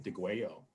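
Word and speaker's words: Degüello: you off of digwell notice how i pronounce the double l as a y de guayo what does the gueo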